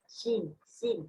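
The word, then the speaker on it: scene: Yes, sin như vậy chữ C trong tình huống này không được phát âm.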